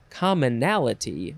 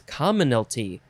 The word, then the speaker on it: commonalty: in another episode commonalty it's not commonality right it's commonality where is it there it is common it's commonalty why is that word